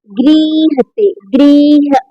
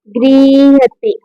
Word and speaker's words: गृह्यते: ये अब क्या है, गृह्यते, गृह्यते, ये या का उच्चारण होगा और हा का आधा होगा, गृह्यते।